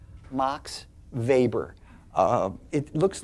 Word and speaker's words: Weber: up uh that's a w web R MOX vaber uh it looks like there's a barbecue bit